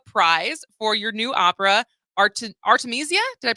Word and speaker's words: Artemisia: But first of all, congratulations on winning the Charles Ives Opera Prize for your new opera, Artemisia. Did I pronounce that correctly?